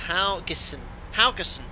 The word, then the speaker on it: Haugesund: a staven Tre Alan thank you hon is pronounced howas haason we're flying to haason P39 I captain hope